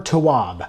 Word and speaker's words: Tawwab: Set boundaries, find peace by I looked this up. This is the correct pronunciation. Nedra Glover Towab.